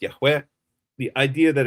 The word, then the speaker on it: Yahweh: But the name of God is clearly pronounced Yahweh. The idea that it's pronounced Yhovah as one particular kite is promoting is it's